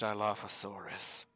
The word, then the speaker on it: Dilophosaurus: That's pronounced Dilophosaurus.